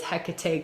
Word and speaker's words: Hecate: hijia love hijia um hecate sometimes spelled with the k sometimes filled with a c but it's hecate queen of the witches